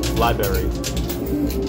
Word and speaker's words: library: Library. Emphasis on the berry.